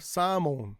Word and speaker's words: salmon: So, of course, a l like I said earlier with walk and talk and chalk, no L sound. But in katakana, salmon, right?